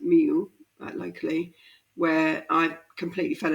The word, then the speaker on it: Millau: Kind of part of that journey led me to a place called Millau, pronounced Miu, locally, where I completely fell in love with the landscape.